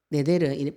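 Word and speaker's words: נדר: 뜻이 네데르, 발음이 네데르인데 뜻이 뭐냐면은 맹세하다, 다짐하다, 헌신하다, 나다르 동사형에서 파생된 명사형이 서원입니다.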